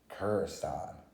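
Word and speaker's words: Krrsantan: origin issue of black christian kurstan is how you say his name so basically who he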